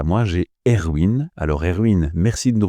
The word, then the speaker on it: Erwin: Erwin prononcé à l'allemande, l'origine de mon prénom, et je dis que je suis architecte.